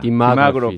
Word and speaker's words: demography: 영어 표현으로는 demography입니다. 디마그래피 뒤쪽에 있군요.